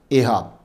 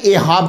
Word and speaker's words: एहाब: इसके मुख्तलिफ तलफ़ुज़ हैं, मैंने ये चुना है एहाब। होता ना कोई बंदा पढ़ के ये अगर जी ये है, आप गलत पढ़ रहे हैं, तो मैंने एहाब चुना है।